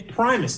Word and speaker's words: Primus: cardi B Janelle Monae The Flaming Lips and Primus also yes did I say it wrong again it's Primus dear God you'd think I uh you'd think